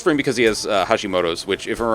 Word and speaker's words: Hashimoto's: because he also has hashimoto's which i just butchered that pronunciation it's hashimoto's not hashimoto's wow oh man um